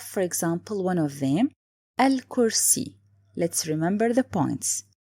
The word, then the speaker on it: الكرسي: Let's have, for example, one of them, الكرسي. Let's remember the points. First, it's لام قمرية. Why? Because here I write it and I pronounce it.